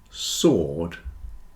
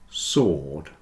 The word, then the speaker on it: sword: listen Castle whistle listen answer and sword have no W answer sword answer and sword your